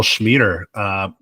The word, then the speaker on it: Schmieder: We actually have a marketing strategy communication specialist here with guest Karl Schmieder, rhymes with meter.